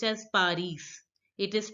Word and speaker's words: Paris: Paris is pronounced as Paris in French. So, Paris is pronounced as Paris in French. The letter S in French, here the last letter S is not pronounced.